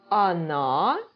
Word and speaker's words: она: We need to bear in mind one thing, that о, yes, in unstressed positions, right, is not pronounced like о, actually, like она, okay? Она, like this.